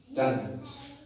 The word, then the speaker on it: tongue: UE जे अॻियां अचे तो त UE जो आवाज़ साइलेंट थी वेंदो उनखे पाण उचारींदासीं। तव्हां अगरि मिसाल ॾिनो आहे टंग TONGUE टंग माना ज़बान पाण में पढ़ंदासीं टंग लिखंदासीं हीअं पर पढ़ंदासीं टंग।